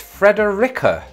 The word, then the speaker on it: Frederica: reddit article again and they say it's fredericka who saw that coming